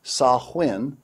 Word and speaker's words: Samhain: Encyclopedia Britannica reveals quote Samhain originally pronounced sahuen Celtic for end of